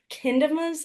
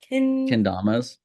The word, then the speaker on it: Kendamas: I saw that you recently were did something with Sweet Kindamas. Is that how you pronounce it? Kendamas.